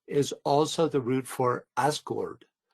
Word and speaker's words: Asgard: also the root for Asgard? Asgard is pronounced Asgard, which is the Americanization of it, is pronounced Asgard, kingdom, and this is the kingdom of the Norse gods.